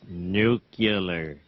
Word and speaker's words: nuclear: Nuclear. It's pronounced nuclear.